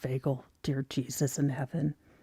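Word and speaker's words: vagal: Vagel, not vaginal. Do not say it. It is not. It is ve It is pronounced veagal.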